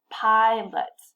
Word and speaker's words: pilot: Pilot. Sometimes you'll hear students say something like pilot, pilot, and this student doesn't have a good concept that an unstressed syllable, like the second syllable in this word, should be reduced and should be reduced to schwa.